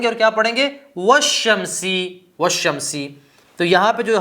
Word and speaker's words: والشمس: یہ حمزہ تھا ہمارے پاس، ٹھیک ہے۔ جب اس سے پہلے ہم نے واو لگائی تو یہ حمزہ گر جائے گا، لکھا تو جائے گا لیکن بولا نہیں جائے گا، تلفظ نہیں کیا جائے